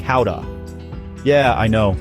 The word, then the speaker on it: Gouda: It's not Gouda, folks. It's more like howa.